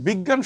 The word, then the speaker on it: বিজ্ঞান: হ্যাঁ, এটার উচ্চারণটা অনেকটা গয় এরকম, এটার উচ্চারণটা অনেকটা এরকম, গয় জফলা চন্দ্রবিন্দুর মতো, বুঝছো?